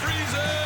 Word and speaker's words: Friesen: It was either going to go freezing or frozen because the way it's spelled. Uh, but apparently it's freezing.